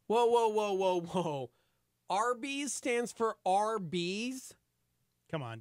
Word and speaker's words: Arby's: Arby's stands for Arby's?